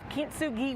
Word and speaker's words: Kintsugi: So Candace is a travel and culture writer and the author of Kintsugi Wellness.